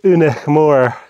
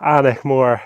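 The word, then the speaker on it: Aonach Mòr: highest mountain of Britain this is unik Moore or anik Moore un I think is the GIC pronunciation and it's 1,221 m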